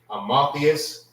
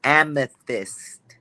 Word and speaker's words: amethyst: How you pronounce this? Is it Amotheus? Salakia, sir. It's amethyst.